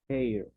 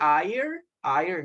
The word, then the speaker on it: hair: We don't say ire, no. Okay, so remember, in English, most of the words that have a letter H, they sound like a J in Spanish.